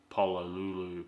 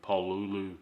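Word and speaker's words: Pololu: doesn't mean that these some of these um Polo Lulu paulu however it's pronounced stepper drivers it's p o o luu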